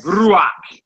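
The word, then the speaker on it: רוח: Ruach. And it's up to you. Some people like to sound fancy and they roll their Rs. They like Ruach.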